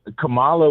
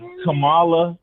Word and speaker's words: Kamala: I said Kamala, right?